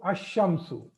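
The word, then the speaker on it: الشمس: Okay, so now this shadda is making this lam silent, or the lam is not pronounced. So these two categories are made. All the Qamari letters, in all the Qamari letters, lam is pronounced, and in all the Shamsiyah letters, lam is not pronounced. I hope you understood this. Lam is not pronounced. So ash-shamsu.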